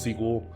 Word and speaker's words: SQL: seek wall or SQL so you can pass sequel I say first I say them both I